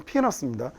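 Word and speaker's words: penis: 이 영어 단어의 발음 피너스입니다. 근데 우리나라 사람들이 이렇게 눈에 보이는 대로 지 마음대로 로마 읽듯이 읽어가지고 이상하게 읽죠.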